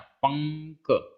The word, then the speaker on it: पंक: अब इसमें उच्चारण में आधा मा नहीं आ रहा, पंक, पंक, आधा मा नहीं आ रहा, पंक, अंगा ही उच्चारण में आ रहा है। मतलब लिखने में चाहे हम आधा अंगा लिखें या अनुस्वार लगाएं, उच्चारण तो एक ही है, उच्चारण में डिफरेंस नहीं है।